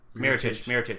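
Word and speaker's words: Mirotić: Mirotic. There you go. I was blanking on how to actually pronounce the name.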